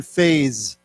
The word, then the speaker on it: phase: something this word here we pronounce the S with a z so let's set again phase phase okay you know we can